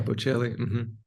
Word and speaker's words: Bocelli: Bocelli. Is that how you say it? Yeah, Bocelli.